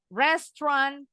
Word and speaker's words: restaurant: Restaurant. Tulisannya nih ada 3 suku kata ya. Restaurant. Tapi bacanya cuma 2 suku kata in English.